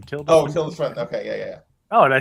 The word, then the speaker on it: Tilda Swinton: Yeah, Tilda Swinton, I think is how you say her name. Tilda Swinton.